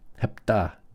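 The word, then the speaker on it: ἑπτά: Hepta. Hepta. It means 7. Now notice, this is the first word we have in our vocab in this chapter that has a rough breathing.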